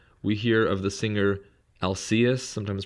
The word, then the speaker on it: Alcaeus: In addition to Sappho, we hear of the singer Alcaeus, sometimes pronounced Alcaeus, and also of Arion, the singer who was